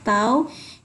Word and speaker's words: tau: itu tahu ini tahu jadi lambang ini namanya bacanya tahu ini adalah momen gaya